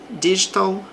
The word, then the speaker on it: digital: I prefer reading digital books. Também é possível pronunciar o T aqui com som de R.